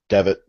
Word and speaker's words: Devitt: yet and then now prince devin or david pronounce that for me nick please devitt devin okay thank you i will get that one